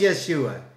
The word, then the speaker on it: Yeshua: Praise Yeshua! That is how you say Jesus in Hebrew.